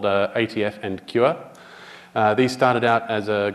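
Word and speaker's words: Kyua: got renamed QR which is meant to be pronounced QA but isn't and Kure can all now run ATF tests tap tests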